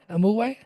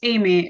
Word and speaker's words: Amy: say it wrong uh am am AMU no it's Amy except for I had a major moment of typing it's Amy but yes I know it's